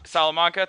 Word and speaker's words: Salamanca: interview everyone with uh my good friend andre salamanca uh andre is is did i say your last name right by the way andre yeah you pronounced it correctly salamanca thank you uh i'm pretty bad with latin